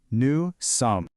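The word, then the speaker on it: nous: First, to say we are, the phrase you need is new. Let's try that one more time. New. The pronunciation for that is new.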